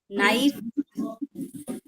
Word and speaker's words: knife: Now when K and N comes together, K remains silent. You only hear the sound of letter N, which is na.